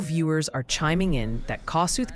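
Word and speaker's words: Kossuth: Multiple viewers are chiming in that Kasuth County is pronounced more like Cass.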